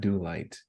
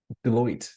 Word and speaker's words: Deloitte: Like, How do you pronounce the one? It's not Do Light. It's I always say their name wrong. Starts with a D. I'm not familiar. Deloitte.